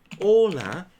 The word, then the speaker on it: hola: Ola. If you think about it, it should write this way. But you know what? The H is silent.